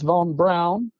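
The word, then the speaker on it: Von Braun: yes yes yes yeah but it's Von Brown okay yes okay people all the time are going oh they're mispronouncing it because it's spelled b r a u n again with the mispronunciations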